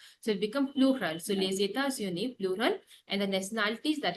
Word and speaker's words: les États-Unis: Now here, les États-Unis. Répétez, les États-Unis. Les États-Unis.